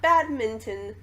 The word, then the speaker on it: badminton: Not badminton, badminton. Yeah. Nobody pronounces the N.